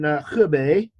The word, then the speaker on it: Hebei: So now after this, then you're going to be in Hebei. Mm-hmm. Thank you very much for pronouncing that right.